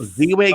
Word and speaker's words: Ziwe: It's Ziwe, but it's Ziwe is how you pronounce it on Showtime, and run, don't walk